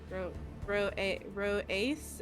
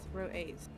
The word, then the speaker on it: Rho-Aias: I don't want to butcher the name, but that's Rho-Aias, as Edac says, Rho-Aias.